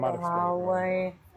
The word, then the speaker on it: Huawei: Yeah, I'm Huawei.